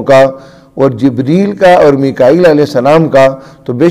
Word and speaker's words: میکائیل: ہمارے ہاں اردو کے اندر چونکہ جبرائیل اور میکائیل جو ہے نا اس کا تلفظ مشہور ہے، تو جو بات مشہور ہو وہی کہنی چاہیے، وگرنہ جبریل پڑھنا بھی غلط نہیں ہے، ٹھیک ہے، اور میکال بھی.